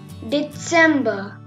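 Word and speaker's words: Dezember: December. Here TS is there. That's why I told you December.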